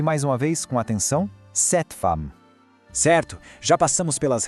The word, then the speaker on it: cette: É um E mais aberto. Ouve mais uma vez com atenção. Cette femme.